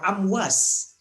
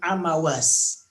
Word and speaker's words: Amwas: Nah, ya, dan ini wabah ini dikenal oleh para sejarawan disebut dengan wabah Amwas atau sebagian membacanya Amawas.